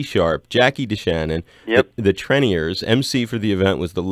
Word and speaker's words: Treniers: The Treniers, that's how you say it.